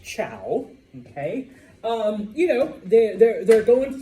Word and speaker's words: Zhou: Remember, even though it's spelled Z-H-O-U, it's pronounced Chow.